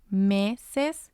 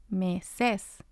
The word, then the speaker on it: meses: Going back to our rule, words that end in N, S, or a vowel will have the stress of the voice on the second to last syllable. So we say hola instead of hola. We say meses instead of meses. And we say tienen instead of tienen.